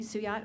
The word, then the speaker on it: Suyat: Yeah, my name is Suyat. I'm from Parker. Suat Sue, like the girl's name, yacht, like the boat.